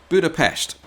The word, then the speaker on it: Budapest: Hello and Yonapot and welcome to Budapest or if you prefer a more Hungarian pronunciation, Budapestt. Famous for the hilltop castle